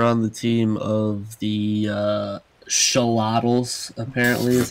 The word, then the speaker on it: Xolotl: micha trek over on the team of the show libels apparently as how it's pronounced we have e sk on the morphing